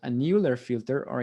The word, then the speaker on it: Euler: run what's called a new air filter or i guess if you're german euler that would be probably the pronunciation i don't know just